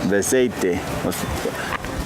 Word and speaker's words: Beceite: Yep, I was saying it right in Spanish. Beceite.